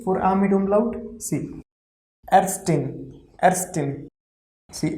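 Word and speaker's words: Ärztin: See, Erstin. See, A mit umlaut is A, R, Z is S, then TIN will be tin. So overall it will be Erstin.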